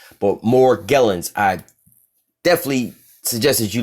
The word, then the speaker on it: Morgellons: Morgellons disease but Morgellons some people pronounce it more jealous but Morgellons I definitely suggest as